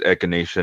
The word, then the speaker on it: echinacea: you say it right it is echinacea not euthanasia right yes did somebody say